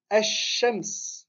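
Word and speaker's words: الشمس: Ici, ash-shams, on ne prononce pas le lem. On dédouble directement la lettre qui vient après le lem.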